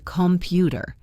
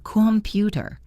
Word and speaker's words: computer: In the word computer, we do not say computer. We say computer. The O becomes a schwa.